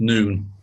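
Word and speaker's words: נון: those letters means fish it's noon and UN pronounced noon which every Hebrew letter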